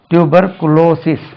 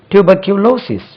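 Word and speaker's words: tuberculosis: இப்படி ஒரு டியூபர்குளோசிஸ் சொல்றாங்க இதுக்கு பாருங்க டியூபர்குளோசிஸ் குளோசிஸ் டியூபர்குளோசிஸ் சொல்றாங்க தவறு tuber tuber Q கியூலோசிஸ் tuber Q க்யூ க்யூ க்யூ கியூலோசிஸ் அப்படியே குளோசிஸ் போடுறாங்க ஒருவேளை க்ளோஸ் பண்றதுனாலதான் டியூபர்குளோசிஸ் சொல்றாங்களா தெரியல டியூபர்குலோசிஸ் டியூபர்குலோசிஸ் டியூபர்குலோசிஸ் அதே ஸ்ட்ரெஸ் லைஸ் ஆன்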